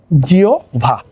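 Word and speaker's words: জিহ্বা: কি রস্যও আসবে, আর হয়বয়ের পরিবর্তে ভ, জিও ভা।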